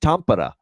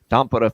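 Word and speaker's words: Tampere: to preview it now Florida Dallas uh in tampara Finland is how you pronounce that by the way Nokia arena there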